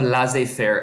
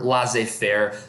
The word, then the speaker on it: laissez-faire: So when you look at the word laissez-faire, laissez kind of sounds like the word lazy. Fair, you could just say father, because it both starts with F.